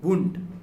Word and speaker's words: Wundt: अब जर्मनी में इनका सामना जो होता है विलियम वुंट से होता है।